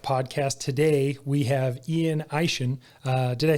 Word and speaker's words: Eishen: Today we have Ian Eishen.